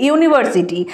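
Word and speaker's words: university: ইউনিভার্সিটি, যেহেতু এটার উচ্চারণটা, প্রনাউন্সিয়েশনটা ভাওয়েলের মতন নয়, কনসোনেন্টের মতন, তো সেই জন্য এখানে আমরা এ বসাবো।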